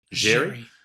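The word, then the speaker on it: Xerri: Bronson, is it Jerry or Cherry? How do you say it, Danny Boy? Jerry.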